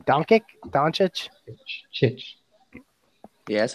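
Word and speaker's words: Dončić: Doncic could be the best player in the draft of all time.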